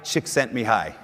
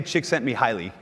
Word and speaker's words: Csikszentmihalyi: is that so mihai Csikszentmihalyi some people say Csikszentmihalyi which i think it sounds way too much like chicks think of me highly and so and by